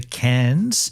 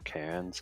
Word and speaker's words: Cairns: I mean, I may not go to Cairns and go up to that top northern point because I could do that anytime.